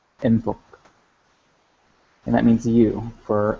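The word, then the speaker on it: ⲛ̀ⲑⲟⲕ: going to have jinkim, ne, theta, o, kappa, enthok, enthok. And that means you for masculine. You for feminine, or for female, is jinkim, ne, theta, and o, entho, entho. So the difference is enthok and entho.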